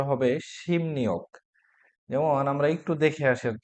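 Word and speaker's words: 십육: মানে 16 কুয়া অধ্যায় কিন্তু শিব ইয়োগ এটা উচ্চারণটা হবে শিম নিয়োগ যেমন আমরা একটু দেখে আসার চেষ্টা করি খেয়াল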